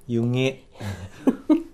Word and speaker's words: 弓削: 湯気正恵さんですか。素晴らしい美濁音。湯気湯気正恵さん、今